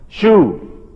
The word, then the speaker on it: Shu: There's not another word that I found, maybe you found one, I haven't, that spell like this and have a U sound.